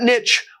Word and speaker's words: niche: So that niche was wide open. And yes, that is not only a correct English pronunciation of the word niche, it was the only